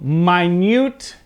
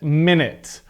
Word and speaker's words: minute: so you'll notice again as the noun the emphasis is still at the beginning part of the word okay so minute and minute all right you guys